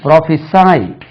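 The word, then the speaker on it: prophesy: வெர்பா வந்தா பிஆர் O pitch is ஒய் இது ப்ராபிசை ப்ராபிசை ஹி ப்ராபிசைட் அண்ட் எஸ் ஐ இடி ஹி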